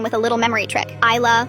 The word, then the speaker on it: Isla: Isla, like I can see the beautiful island.